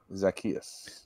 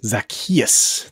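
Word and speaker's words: Zaccheaus: gave us the correct pronunciation everybody it is pronounced zakus zakus thank you much but we put your names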